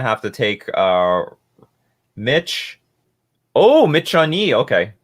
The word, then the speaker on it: Michonne: Oh, Michonne. Okay, Michonne.